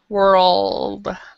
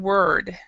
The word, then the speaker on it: world: with the second word you have to move your tongue world oh it kind of goes around in your mouth world world yeah you're saying word so you got to go world and anna can you